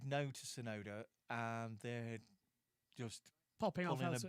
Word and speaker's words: Tsunoda: Yeah, he's Yuki Tsunoda. Tsunoda. I've just remembered that without having to Google it. Yeah, Yuki Tsunoda. Right, starts with a T, but the T is silent.